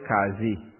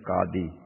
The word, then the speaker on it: Qadi: Our panchayat will be headed by the, in Trinidad they call it Qazi. The correct pronunciation is Qadi.